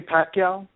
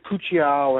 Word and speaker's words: Pacquiao: Like, you can't say Golovkin, you can't say Kovalev, you can't say Pacquiao. It's always Pucciao and Galaka and whatever, however he mispronounces the name.